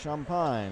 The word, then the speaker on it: Champine: again and sean pine spelled c-h-a-m-p looks like champagne pronounced champine here's a shot by